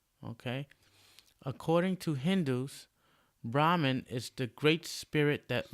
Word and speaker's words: Brahma: One of the most important gods in Hinduism has a name that sounds very much like Brahman. This god's name is Brahma. Brahma. This Brahmin minus N.